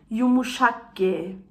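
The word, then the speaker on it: yumuşak ge: Diese Buchstaben haben wir auch nicht in der deutschen Sprache. Yumuşakge. Yumuşakge, also ein so feines G, ja? Yumuşakge.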